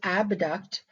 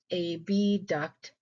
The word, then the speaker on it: abduct: these terms in school we pronounce them AB duct and a duct which I still do in my head to this day to keep them separated in my mind the term phasia here